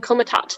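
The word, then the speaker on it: Komitat: the capital of hungary budapest is in the comatot de peste comitar time is saying it correctly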